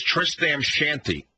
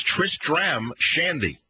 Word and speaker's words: Tristram Shandy: right right I mean what you want to say is Tristan's shanty but that's not how it's pronounced it's Tristram Shandy uh-huh Tristram Shandy it's